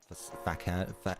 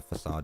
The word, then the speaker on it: facade: Fak. Yeah, facade is the way you pronounce it.